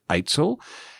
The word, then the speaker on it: AITSL: Before we get started, let's just break down the role of AITSL, which is pronounced AITSL.